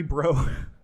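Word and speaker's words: Breaux: so um activist Harry bro Harry bro I didn't realize that because it's spelled like oh it's very bro b-r-e-a-u-x everybody I didn't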